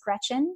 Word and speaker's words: Greczyn: really easy to pronounce it's just like the girl's first name Gretchen and then on Twitter